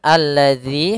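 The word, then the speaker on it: الذي: tersebut tidak dibaca kemudian alladzi hati-hati dalam pelafalan dalal di sini ada huruf Zal bukan huruf Zai ya kebanyakan kita kadang-kadang membaca huruf dalal dengan dengan huruf Zai misalkan alladzi alladzi ah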